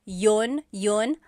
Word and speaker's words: yun: You might hear people say, ginawa ko iyon dahil mahal kita, but usually the letter I sound is dropped.